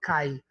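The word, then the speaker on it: καί: Por exemplo, kai, essa primeira palavra é kai. Na verdade, hoje no grego moderno não se lê kai, se lê que.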